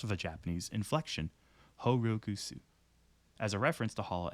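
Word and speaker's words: holoX: that Wiki according to Omega Hollow X is pronounced whole looks however this is technically incorrect it is pronounced of a Japanese inflection horukusu as a reference to holla X being the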